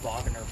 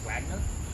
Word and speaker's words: Wagner: of our cotton industry that is the vogner building us ignorant Americans would probably say Wagner what it is Bob's